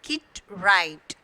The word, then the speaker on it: Kit Wright: So here W is silent. You have to pronounce as Kit Wright.